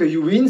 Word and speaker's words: UYN: de la marque yuwin pour ceux qui connaissent pas la marque yuwin c'est une marque italienne ça s'écrit uy et c'est une marque